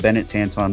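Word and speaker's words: Benet Tanton: But if you look up Bennett Tanton, B E N E T, his last name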